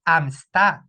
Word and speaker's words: amistad: No caso de amistad, nós temos a sílaba tônica na última, aqui no tá?